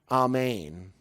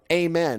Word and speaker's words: amen: he would say that a main a main which means from this rooted fertile earth center Amen is the is the mispronouncing the pronounciation we throw out over here so we've got this